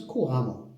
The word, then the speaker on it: couramment: Nous avons l'adjectif, c'est courant courante hein, l'adjectif au féminin et donc ça prend un 2è à A 2e mais on prononce couramment d'accord couramment.